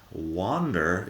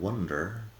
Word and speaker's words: wander: then we have wander wander is different than wonder the difference is ah and a wonder is